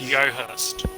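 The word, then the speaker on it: Joest: So dark is just covered, and it's pronounced Yohurst.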